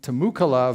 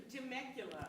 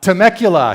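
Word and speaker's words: Temecula: for Spiritual Living in Tamukula Valley for 15 years. Is that incorrect? Give Tmacula. Tmacula. Here we go. the meccula, which kind of makes sense the way it's spelled.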